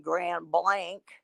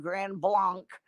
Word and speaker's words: Grand Blanc: of my doctors in grand blank at the hospital there and yes i pronounced it correctly you can tell you can tell somebody's not from michigan if they call it grand blanc they're not from me